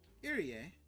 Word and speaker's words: Irie: Irie. Irie. Yeah, that's right. That's how you pronounce it. Oh, I said Erie, but Irie.